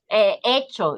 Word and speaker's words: hecho: So, hecho, yeah, hecho is with H, right? So we don't pronounce it, it's silence.